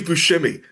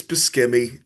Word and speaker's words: Buscemi: Oh, Steve Buscemi, who was Yep. actually finally after like 40 years, he's like, it's Buscemi, but I just didn't. I'm like, no, it's Buscemi.